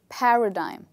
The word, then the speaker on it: paradigm: Is it digim, dim, or dime? Well, this part is dime, and this word is actually pronounced as paradigm.